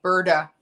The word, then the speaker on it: Burda: It's called Bird of Paradise, and it gives money to the LA Free Clinic, and it's spelled BURDA, Birda Paradise, because the woman who founded it.